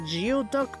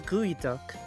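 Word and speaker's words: geoduck: Yes I know I know pronounce I know this looks like geod duck but no it's gooey duck.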